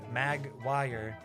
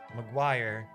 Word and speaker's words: Maguire: What is Maguire? Oh, but this is just wire. He said mag wire. Maguire.